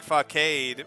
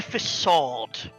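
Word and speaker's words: façade: understand how to pronounce the little squiggly C.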